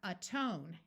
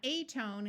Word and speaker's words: atone: before the suffix meant so we have atone notice it's not a tone it's atone amend atonement Amendment a